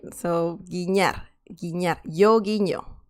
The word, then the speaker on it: guiñar: The next one is guiñar. Guiñar. Okay, so this has a peculiar pronunciation because of the letter ñ.